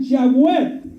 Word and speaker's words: Yahweh: Los judíos lo pronuncian Yahweh.